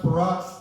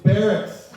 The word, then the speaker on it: barracks: bathroom and go see it's not pronounced perox it's barracks uh he didn't get